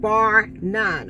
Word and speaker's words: Barr-Nunn: So with that all being said, tonight I wanted to come and talk to y'all about a company called BARR-NUNN, okay? It's spelled BARR/NUNN, okay?